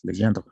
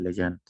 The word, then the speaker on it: Legendre: Aunque la pronunciación, pues generalmente es Legendre en francés, ¿no? Pero se oye muy feo en español, Legendre. Entonces, pues a veces solo le decimos de Legendre.